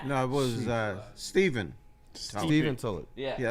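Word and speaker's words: Stephen: Steven Tullet. Yeah, that's the way he pronounced it. Yeah, it was like it was it looked like Stefan, but it was Steven.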